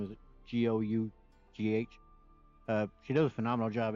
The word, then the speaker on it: Gough: just talk about I believe her name is pronounced Denise Gough. Her last name is Gough.